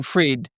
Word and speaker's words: Fried: So, I'm fried, but you actually say freed. F r i e d.